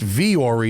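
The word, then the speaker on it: Vuori: hard part it's spelled v-u-o-r-i okay so it's pronounced V Ori but it's spelled Vu Warrior off your first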